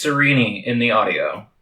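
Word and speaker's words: Sarene: serene because cerini sounds it only sounds goofy because it looks like it should be pronounced serene sirini is probably a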